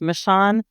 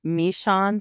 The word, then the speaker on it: Meshawn: Chief Eddie michan and my name is pronounced michan but Trump calls me mishan so that's toally acceptable if you want to say mishan I love I love